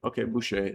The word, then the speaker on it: Boucha: That's how you pronounce it. Okay, Boucher.